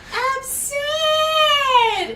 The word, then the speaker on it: Abserd: Abserd is the correct way to say it.